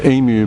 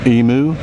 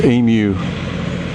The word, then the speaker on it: emu: morning sun um yes it is emu by the way and not emu the emphasis emphasis is on the uh the vowel at the end I know um Americans have a ponant for uh mispronunciation um so if there's any American viewers it's emu not emu they beautiful feathers if